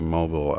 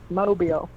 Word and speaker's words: Mobile: I think coming from Tulsa, we went through Mobile, Alabama. Yeah, you got to put that southern accent on there. It's not right. Mobile. Got to go to Mobile.